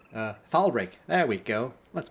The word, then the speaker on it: Thalric: My name's Thalric. Thalric. There we go. Let's pronounce it that way.